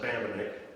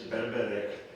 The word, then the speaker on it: Bambenek: My mom's last name was pronounced Bambenek, but the real pronunciation, the Polish pronunciation, is Bambenek, who was the chair of the Winona County Commission.